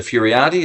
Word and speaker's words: Furiate: Y think y and up in the lefthand corner we have Linda Furiotti. Is that how I pronounce it?